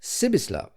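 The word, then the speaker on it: Pribislav: spoke was called hip pribis love hip the peculiarity of this given name was that you were to pronounce it as though it was spelled sibisla and the singularity of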